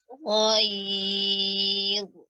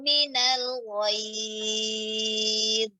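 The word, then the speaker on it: غيظ: Takad tamayyazu minal ghayz. Minal ghayz. Minal ghayz. Ya. Dia tebal terus sampai diucapkan ya lin tuh tebal terus. Dari ya baru masuk dha-nya yang tebal.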